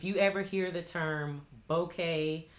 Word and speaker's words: bokeh: ever hear the term bokeh sometimes it's pronounced boca but mostly i've heard bouquet that is that they